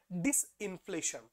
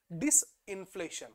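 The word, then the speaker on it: disinflation: येते आता नेक्स्ट आहे डिस इन्फ्लेशन आता शब्द काय वापरतो नीट लक्षात ठेवायचं याला म्हणतात डिस मी थोडं प्रोनन्सशन जेव्हा करतो मी थो इन्फेसाईज करतोय डिस इन्फ्लेशन काय म्हणतो डिस इन्फ्लेशन आता आपण काय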